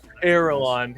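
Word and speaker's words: Erelan: yeah i got it airline yeah e-r-e-l-a-n like aragon but you know with the lawn kind of like the movies though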